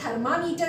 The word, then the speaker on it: thermometer: Second जहाँ थर्मामीटर बोला गया, that is नॉट थर्मामीटर, इट इज थर्मोमीटर. थर्मोमीटर. Third, of course it is English, sh और s, शलजम सपेरा, difference है.